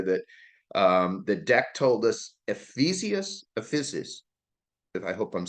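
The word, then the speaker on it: epizeuxis: it over here, that the deck told us, Ephesus, if I hope I'm saying it right. Okay. What is it, deck? Ephesus? Epizeusics. Yes, Epizeusics. All right, so I can't pronounce it, but you did it well, Victoria.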